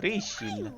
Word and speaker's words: Priscilla: If you must know, it's Priscilla. Are you sure you Piscilla. don't mean Priscilla? I Priscilla. look like the kind of person who can't correctly pronounce their own name? It's Priscilla!